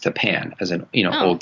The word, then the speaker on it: Tappan: one reason or another the school district is pronounced Tappan as an you know hold to thing so